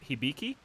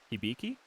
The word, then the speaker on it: Hibiki: i got recently is apparently pronounced hibiki hibiki i i thought it was like habiki it's fun to say